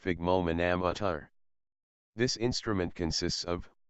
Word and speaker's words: sphygmomanometer: Blood pressure is measured with an instrument called a sphygmomanometer, pronounced sphygmomanometer.